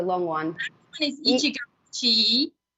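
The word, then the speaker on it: 一期一会: And then the last one, I've forgotten how we pronounce that one. It was a long one. That one is Ichigo Ichii. Ichigo Ichii.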